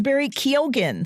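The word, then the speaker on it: Barry Keoghan: year the star of the movie saltburn is Barry kogen spelled ke o g h n the star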